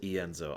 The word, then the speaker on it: Ienzo: He does pronounce it Ienzo. I heard you starting to say that, and I'm like, okay, he had to have heard it's Ienzo. Because I've always been saying Ienzo, but yeah, Ienzo.